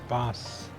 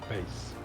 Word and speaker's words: bass: if it's a fish I think it's actually pronounced Bass not base ah okay my